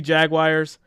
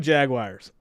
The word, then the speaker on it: Jaguar: So when we say Jaguar, it sounds like the word jag and then the word wire. So whenever I say that, I always get picked on. Or like, Jaguar. Like it's supposed to just flow out.